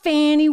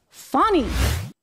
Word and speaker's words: Fani: Fani Willis thought she could take him down.